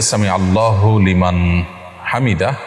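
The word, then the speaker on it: سمع الله لمن حمده: দেখুন, সামি আল্লাহু লিমান হামিদা এটি হলো শব্দের সঠিক উচ্চারণ। সামি আল্লাহু লিমান হামিদা, সামি আল্লাহ লিমান হামিদা এটা সঠিক উচ্চারণ নয়।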